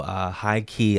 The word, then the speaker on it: H1-Key: But they're called high key, but it's spelled H1, then a hyphen, then key.